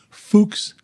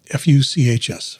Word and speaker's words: Fuchs: It's because I've been having vision issues with a progressive disease called, and I'm pronouncing this very carefully, Fuchs dystrophy, F-U-C-H-S, Fuchs dystrophy.